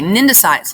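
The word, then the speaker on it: cnidocytes: life medusa jellyfish okay nendocytes let's talk about the stinging cells again don't pronounce the c these stinging cells line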